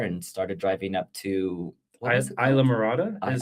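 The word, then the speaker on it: Islamorada: And then we jumped in a car and started driving up to Isla Morada is how you pronounce it.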